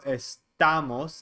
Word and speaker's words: estamos: second to last vowel so estamos even though there's no accent mark you say the accent on the a and then estas estan